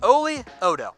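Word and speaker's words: Oli Udoh: So pick is in here, number 241, Oli Odo. Oh, I said it wrong the entire time. My bad, guys. It's Oli Odo.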